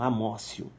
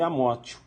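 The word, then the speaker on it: amotio: Não, Amócio. Mas tá escrito isso, escreve Amótio, mas a pronúncia é Amócio.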